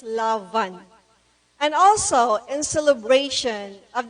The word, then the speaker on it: Love-an: manga awaiting page and please take note of the pronunciation it's lavan and also in celebration